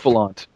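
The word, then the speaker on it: Bouffalant: Buffalont, I think it's pronounced. Yes, Buffalant.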